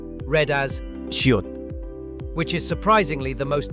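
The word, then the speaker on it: ㅅ: Korean s is much softer and less aspirated. To try it, instead of pushing air through clenched teeth like English S, open your teeth slightly and let a gentle stream of air pass through.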